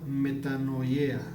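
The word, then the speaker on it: μετάνοια: de este versículo dicen arrepentimiento y se pronuncia metano yea de meta a cambio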